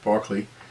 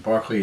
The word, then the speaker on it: Berkeley: david hume and george barkley and uh his name is spelled like berkeley but pronounced barkley and barkley is from killcoin ireland